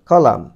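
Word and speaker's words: column: from অর্থ হইতে from হইতে কলাম দেখো এম এন এখানে এন এর উচ্চারণটা সাইলেন্ট থাকবে উচ্চারণ হবে কলাম কলাম কলাম একটি নাউন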